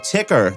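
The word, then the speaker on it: Tker: Sam Row is the founder and author of Ticker. That's spelled TK ER, an award-winning newsletter covering news, data, and insights informing long-term themes for investors and the economy.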